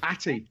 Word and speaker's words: Atdhe: Atdhe rhymes with hug me.